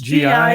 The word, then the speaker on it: Giulia: But it's spelled with a G. Yeah, that's right. G-H or something? It's Giulia. Yeah. Julia.